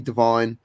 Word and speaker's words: Devine: i want to see alfie devine uh or davine depending on how you pronounce it wherever because where you're from um but everyone else